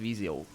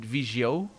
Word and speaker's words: Viseu: Viseu, people from Viseu are pronounce it Vigio. Vigio. That's the most difference that I can tell. The j, all the z become j.